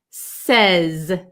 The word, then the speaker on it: says: so um uh says with an S at the end we pronounce the S sound says says and it's like an a short e sound says we don't say